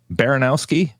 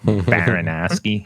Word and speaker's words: Baranowski: Last week in Massachusetts, 2 correctional officers stabbed and 3 others injured at Souza-Baranowski Correctional Baranowski.